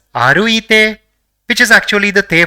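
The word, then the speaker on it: あるいて: So it will be pronounced as aruite, which is actually the te form of the verb arukimas, which means to walk.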